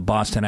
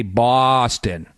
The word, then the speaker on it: Boston: We don't say Boston. We say Boston, B-A-W, like Red Sox, S-A-W. That's the key to it.